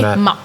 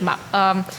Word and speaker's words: MAAP: But as per Robin pronounced it as Maap. So we just say Maap.